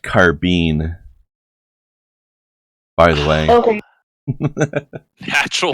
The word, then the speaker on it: carbine: Alright, guys, Kai is really invested in wanting you guys to know that it's pronounced carbine.